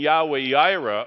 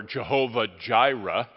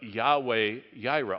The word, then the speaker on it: Yahweh Yireh: And Yahweh Yireh, or Jehovah Jireh, which no one in the Bible would have ever said, but it's okay to say it. But Yahweh Yireh, all the J's are Y's.